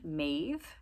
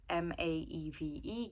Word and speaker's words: Maeve: For girls, another one with the long A sound, Maeve, M-A-E-V-E, getting a lot of talk and attention right now. James, Maeve, one syllable, long A vowel.